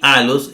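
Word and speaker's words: ἄλλος: misma manera vea que aquí alos es en la penúltima a los verdad en la penúltima sílaba mientras que dos se acentuaba en la última sílaba entonces pero no se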